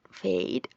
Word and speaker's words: fade: no h o fade si ven fade suena como si fuera una e con una I esto es edad Y